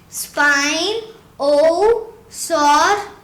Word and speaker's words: Spinosaurus: hi my name is it is pronounced spine oh sorry yeah and it meant spine lizard right